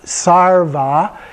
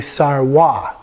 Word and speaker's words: sarva: the V sound but in Tibetan they didn't have a V and so they insert a W and so for example here we have sarva which is pronounced that